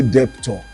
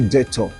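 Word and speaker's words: debtor: Don't say deptor say detor.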